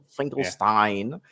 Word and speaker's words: Finkelstein: Finkelstein. That's how you pronounce it. Finkelstein.